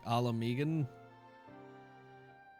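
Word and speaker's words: Ala Mhigan: Uh, the H is silent, so it's just like alaman.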